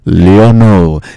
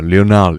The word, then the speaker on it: Lionel: basket liner liner liner well it's leono leono Messi by the way uh Lionel actually you know I know